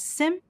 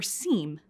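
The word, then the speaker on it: SIEM: The acronym SIM may be pronounced as SIM or SEAM, but we'll use SIM throughout this program.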